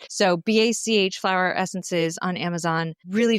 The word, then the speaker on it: Bach: I'm a big fan of Bach or Bach. Bach, B-A-C-H. I've heard people pronounce it batch. I've heard people pronounce it Bach, but this is just entry level, like 101, right?